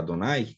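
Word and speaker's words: אדני: e vai ver então para lembrar o leitor que deveria se pronunciar adonay eles fizeram pegaram é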